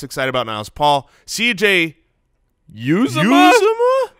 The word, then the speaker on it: Uzomah: CJ Uzomah? We got the pronunciation from the Bengals pronunciation guide, but then the actual broadcasters did not Siciliano said something different. Uzomah?